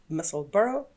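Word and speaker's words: Musselburgh: myself a muscle burrow we have agreed on the pronunciation it's muscle burrow like in edinburgh and uh it's by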